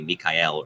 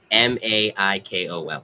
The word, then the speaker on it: Maikol: in the States, Michael, she didn't want my Dominican relatives and Puerto Rican ones calling me Mikhail or. So she's like, to make sure they pronounce it the way it's supposed to be pronounced. Maikol.